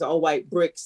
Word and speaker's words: All White Brix: And I always say his name is All White Brix, and Brix is with an X, not CKS.